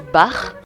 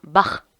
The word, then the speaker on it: Bach: aujourd'hui concerne la famille bach parce que oui je voulais des plus tôt bac étaient allemands du coup ça se prononce pas bac mais bien barre ne soyez donc pas